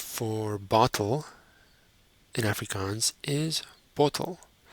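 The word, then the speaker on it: bottel: bottle in Africans is bottle it's very similar but a slight difference in pronunciation bottle the plural bottles in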